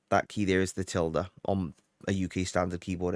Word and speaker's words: tilde: and where we going to install this that tilder that's the pronunciation for that by the way I always called it a til I have no idea why but that tier